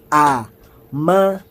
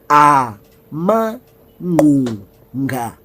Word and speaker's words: Amangqunga: Izilonda, ezithi pronounced Amangqunga. One more time. Amangqunga.